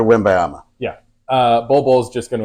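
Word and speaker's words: Wembanyama: know this is serious you need to say it correctly Victor win bayama yeah uh Bobo's just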